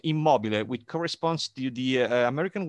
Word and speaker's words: Immobile: Is called, this is the Italian pronunciation, Immobile, which corresponds to the American word immobile or motionless.